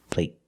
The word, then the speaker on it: plate: Play, play soccer, play, and plate. Plate. It's shorter.